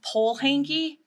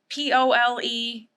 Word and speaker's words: Polehanki: Yes, my last name is pronounced Polehanki. It's Polehanki, like a flagpole, Polehanki.